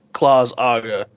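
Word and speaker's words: Claus'Aga: It's Claus apostrophe AGA. Claus Aga. That's how it's pronounced. That's exactly You finally pronounced it correctly. I've said that every fucking time. Claus Aga. You usually miss the S and put it in after the apostrophe.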